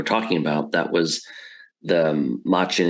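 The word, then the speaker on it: Machen: Um, and that was of course as you just were talking about, that was the Machin. Is it Machin? Machin Arthur Mockin I believe is how how pronounced that was based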